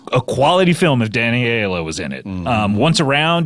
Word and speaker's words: Aiello: through the 90s, if it was a quality film, if Danny Aiello was in it.